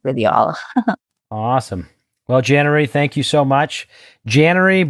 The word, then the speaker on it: Janary: I thought of like a cannery. So I was like, Janary, cannery.